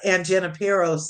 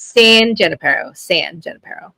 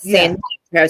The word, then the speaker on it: San Junipero: And then Dustin, I'm positive he won't know what the fuck Aunt Junipero means. San Junipero. Like San Francisco, but San Junipero.